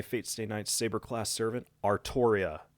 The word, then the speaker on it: Artoria: state knight's saber-class servant artoria pendragon not arturia not arthuria not whatever other weird pronunciation is out there ar toria pendragon and now that that